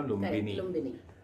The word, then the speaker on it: लुम्बिनी: लुम्बिनी का प्रोनाउंस सही करो ना, लुम्बिनी।